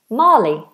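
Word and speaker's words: Mali: So, this here is Marley. Marley. Like the film Marley and Me.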